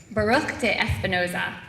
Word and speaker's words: Baruch de Espinoza: including dates I have to make sure I'm pronouncing this right Baruch de Espinoza Vivian is that correct yeah okay that's good